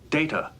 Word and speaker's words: Data: during Gaddis what is his name it is pronounced data oh you called me data difference what is